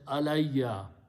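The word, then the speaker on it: عَلَيَّ: So when you read them, Allah and Ya together, it is pronounced as Alayya.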